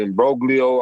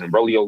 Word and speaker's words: imbroglio: First, I don't know if it's imbroglio. I don't know if it's imbroglio, like a silent G. It might be.